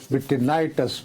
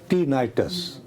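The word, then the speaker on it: tinnitus: ये तशकील दिया था सबसे पहली बात ये है कि मेरे से गलत प्रोनाउंस हुआ ये जो बीमारी है कानों में जो हेलीकॉप्टर इसकी आवाज आती है। इसको विनाइटस बोला जाता है। मैंने गलबन क्या क्या नाम है? टीनाइटस टीनाइटस अच्छा इसमें ये होता है कि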